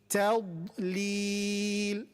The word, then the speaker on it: تضليل: Not li, lam will be light here. If I'm pronouncing it a heavy, that means I'm affecting it. It's being affected by the heaviness of blood, which should not be the case.